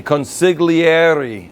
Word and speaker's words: consigliere: The confidant, or the consigliere. That's how you say it. If you can say it, that's cool, because people will love it if you can speak it in the Italian, because we are an Italian restaurant.